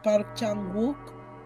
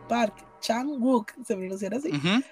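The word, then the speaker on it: Park Chan-wook: ya lo habíamos mencionado se pronuncia mejor es park chan wook park chan wook ya que justo acá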